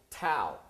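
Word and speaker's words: tau: are in seconds and this is pronounced T AO tow all right well let's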